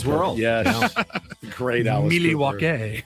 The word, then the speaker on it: Milwaukee: Actually, it's pronounced Milwaukee, which is Algonquin for the good land.